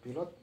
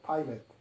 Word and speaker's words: pilot: Tulisnya pilot. Bahasa Inggrisnya bacanya pilot. Pilot itu pengucapan bahasa Indonesia. Sedangkan bahasa Inggris disebut dengan pilot. Beda jauh ya.